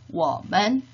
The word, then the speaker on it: 我们: 같이 한번 따라 발음해 보도록 하겠습니다. 1인칭 我 우리들 我们 2인칭 你 너희들 你们 3인칭의 그 또는 그녀는 발음은 같다고 했죠?